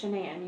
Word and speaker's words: Shanann: addiction on Ocean Anna its jananam you pronounce it like shenanigans everybody everything else about